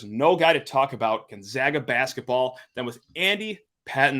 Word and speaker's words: Gonzaga: It's funny to me because they go by Zags, and so you'd think that people, I mean, you've been saying it correctly, Gonzaga.